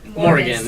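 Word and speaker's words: morgxn: guys are currently touring with the dreamers and morg it is pronounced Morgan so you're on tour with dreamers and Morgan yeah Morgan oh it's been so fun so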